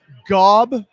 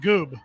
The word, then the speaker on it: Gob: Billy Talent yeah okay Gob Gob and which rhymes with job apparently yeah Gob Rhymes a job that's right yeah so not goob not goob Ryan I